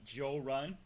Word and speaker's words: Jorrun: see other people's faces he'll pronounce it joe there wasn't gonna be a whole run because i've had some friends from different parts of the south call me joe run which is cool uh but i like